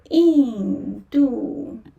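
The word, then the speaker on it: 印度: So you can say Indu. Here. In. In falling tone. And then Du.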